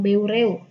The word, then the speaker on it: Beureueh: oleh Daud beureuh ya bacanya beregu kan brew nah Daud Beureueh ini